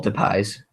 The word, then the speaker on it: Depay: I think Depay's going to add a lot.